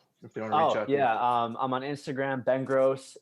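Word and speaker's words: Grosse: I'm on Instagram Ben gross G ro SS e yes is pronounced like the word gross not gross say it's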